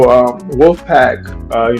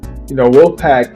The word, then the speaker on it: Wxlf Pack: Yeah, so Wxlf Pack, we spell it with an X, instead of the O, just stand out. But Wxlf Pack, it's so much bigger than the record.